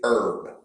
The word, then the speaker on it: herb: pronounce it it is herb herbs and spices yeah don't listen to this guys pronounce your h's it's very important oh so pronounce your